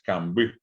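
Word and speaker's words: kamby: Y justamente estoy silabeando, digo ca y luego mbi. ¿Por qué? Porque la mb es una sola letra. Si yo pronuncio como en castellano, se separaría así, cam hasta la m y bi. Y no es cambí, sino es cambí, cambí la palabra, ¿verdad?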